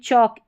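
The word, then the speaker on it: chalk: अब यह जो चौक है इसमें चौक। ए को ए के साथ एल लगा है। कह सकते हैं कि इस ए को अ पढ़ा जा रहा है। और जो एल है चौक में यह साइलेंट है।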